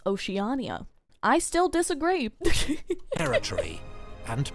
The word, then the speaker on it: Oceania: local warlords sought See, because I thought this was going to be another Oshia incident. I thought this was going to be another Oshia incident where I've just been saying it wrong forever. I live here. Turns out it's Oceania.